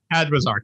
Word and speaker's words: Adwizar: Adwizar.